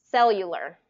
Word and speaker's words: cellular: or a C Sound but cellular is an S so cell cell you and this actually has a invisible Y in it so cell you cellular so say Cellular One